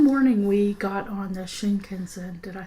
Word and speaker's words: Shinkansen: One morning we got on the Shinkansen, did I say that right?